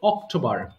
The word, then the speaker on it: October: এরপরে ও, এই দেখো অক্টোবর, একটু সেকেন্ড, অক্টো, এটাতেও আমার ঠ আসবে না, হ্যাঁ, এই জন্য আমি অক্টো লিখেছি, অক্টোবর, অক্টোবর, এরপরে নভেম্বর, নভেম্বর, ডিসেম্বর, ওকে, ডিসেম্বর, ওকে, এই তো হয়ে গেল।